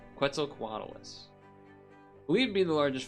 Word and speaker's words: Quetzalcoatlus: Nope, that's a Quetzalcoatlus. Normally I can say this because I know this one. Quetzalcoatlus. That. I knew I was saying it wrong. Quetzalcoatlus.